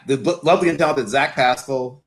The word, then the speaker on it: Pascal: I have the lovely and talented Zach Pascal, or Pascal, if you want to really pronounce it correctly.